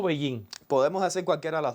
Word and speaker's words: Beijing: Aunque si vamos a decir Beijing, tal vez sería mejor decirlo con la pronunciación china, que es Beijing.